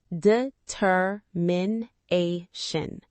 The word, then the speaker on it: determination: Determination. 5 syllables. The stress is on the 4th syllable, na.